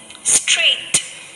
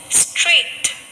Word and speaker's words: straight: letter sounds are silent when letters g and h come together then both the sounds of letter g and h are silent let us read some words straight straight so in the word